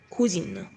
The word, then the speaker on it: cousine: بننطق cousin son cousin cousin. sa cousine cousine. cousin cousine.